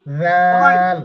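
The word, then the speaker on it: ذال: এই এই জিহ্বাটা, জিহ্বার আগাটা আপনার দাঁতের এই জায়গাটার নিচে রাখবেন, এটা নিচে রাখবেন, ঠিক আছে? জাল, জাল কি বলেন? জাল জাল জাল জাল। জাল জাল জাল এই দেখেন, আমাকে দেখেন, একটু নরম করে উচ্চারণ করবেন।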